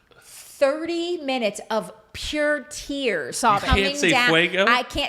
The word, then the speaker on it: fuego: Ask Jason to say fuego. He just tried. Fuego. Thank you. Did I say it right now? Yes. Now ask her to say the word. Frago.